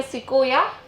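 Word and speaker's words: sequoia: एंड at present एक tree है जिसका नाम है सिकोया which is considered as the tallest tree in the world.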